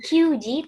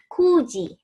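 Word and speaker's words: 九時: 9 juga sama, bukan kyuji, tapi kuji. Gitu ya.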